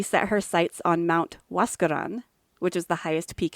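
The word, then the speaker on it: Huascarán: In 1904, she set her sights on Mount Huascan. What? Nope, I totally pronounced that wrong.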